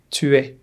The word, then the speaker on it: tu es: Tu es. S is silent here.